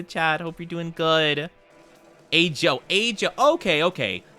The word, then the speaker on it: ajo: Ajo. Ajo. Okay, okay. It's not like pronounce the J like an H, like in Spanish.